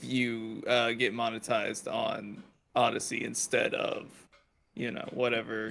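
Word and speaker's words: Odysee: yeah kind of thing he's like only on Odyssey or whatever it is which is owned by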